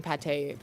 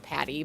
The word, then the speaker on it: Pate: I think it's someone's child calling pate Patty, but I think they were like saying, someone said they call it Pate or Pat. I'm like, both of those are wrong.